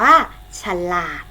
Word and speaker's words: ฉลาด: ๆ ถูก ต้อง ค่ะ คำ นี้ เป็น คำ สอง พยางค์ อ่าน ว่า ฉลาด พยางค์ แรก ออก เสียง อะ กึ่ง เสียง พยางค์ หลัง ออก เสียง เหมือน มี หอ นำ นะ คะ อ่าน ว่า ฉัน หลาก เด็ก ๆ เป็น คน